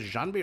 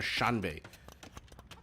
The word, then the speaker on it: Xianbei: The way one free villager hey Guan cavalry Xianbei riders is Xianbei or Shanbei? I think the X is pronounced like a SH if I'm not mistaken.